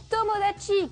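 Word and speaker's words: 友達: C'est le mot tomodachi qui veut dire ami.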